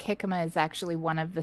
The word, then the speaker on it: jicama: Hecima. That's I spelled it horribly. It's not It's fun. spelled with a J.